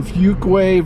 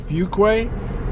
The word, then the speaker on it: Fuquay: are this is downtown Fuquay Varina when you move to the south most people mispronounce Fuquay they call it fuqua but it is a